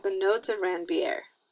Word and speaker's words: Ranvier: And those unmyelinated segments of axons are called the nodes of Ranvier. I'm sorry, Ranvier is the correct pronunciation. I always say Ranvier because that helps me spell it, but it's nodes of Ranvier.